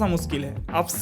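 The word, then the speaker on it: Upscayl: Using this This is a bit difficult to pronounce as 'Upscaly,' but it is very easy to use.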